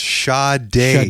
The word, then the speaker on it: Sade: lol uh sad or S is pronounced sha day shade yeah yeah and